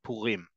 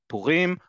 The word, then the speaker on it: Purim: want to say it, as we've talked about where syllables are in modern Hebrew, it's on the last syllable by default.